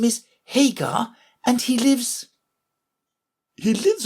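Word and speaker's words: Haigha: happy his name is Hagar he pronounced it to rhyme with mayor I love my love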